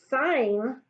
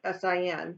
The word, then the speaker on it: sine: I'm going to just sign which is spelled SI and E but we abbreviate with SI n so it's not sin at sign sign 18 degrees